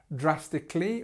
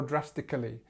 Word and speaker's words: drastically: realistically, we have this potential to say drastically or drastically, and you can use both again. But again, our stress is at the beginning.